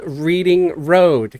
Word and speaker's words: Reading Road: life okay in Cincinnati there is a a street here uh called Reading Road guess how they pronounce it here reading yes yeah which is yeah it's reading ra it's supposed to be reading railroad it's reading it's Reading Road when I got here I'm